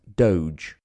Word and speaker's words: doge: For the Venetians, the word became doge, d, usually pronounced in English as doge.